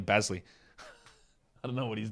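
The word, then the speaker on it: Bazley: Xavier McDaniels or Xavier McDaniels we have to accommodate people pronouncing their own names wrong Darius basiliana it's definitely basley I don't know what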